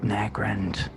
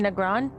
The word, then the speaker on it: Nagrand: That sounds like Nagrand. Yeah. You mean Negron? Is that how you say it? Yeah, Alright. Negron. Yeah, you say Negron. Nagrand. Okay. I mean, you can say it either way.